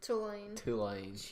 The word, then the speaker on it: Tulane: How you say it? Tulane. It's Tulane. Tulane.